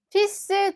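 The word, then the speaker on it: fils: 딸은 ce 쓰이 2 아들 같은 경우는 조금 독특한게 원래 불어에 가장 마지막 자음은 발음이 되지 않잖아요 그런데 얘는 발음이 됩니다 대신을 앞에 있는 에는 발음이 거의 나지가 않아요 그래서 마치 씨스 처럼 발음이 됩니다 l 발음이 아예 없죠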